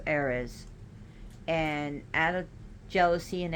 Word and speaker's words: Ares: And it is said that she was cursed by Aphrodite herself because Eos had an affairs with Ares, but he's pronounced Ares.